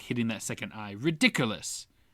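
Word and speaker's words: Riddikulus: Um, what do you think of Ridiculous? That whole the spell that stops it and all that the laughter aspect.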